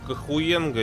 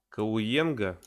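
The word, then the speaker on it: Cahuenga: Ха, не читается. А, ну да, я забыл. Ну я-то говорю, мне-то можно, я ж с акцентом. Кауенга.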